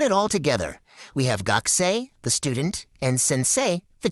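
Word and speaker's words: 学生: And that sei sound, it's pronounced just like the English word say.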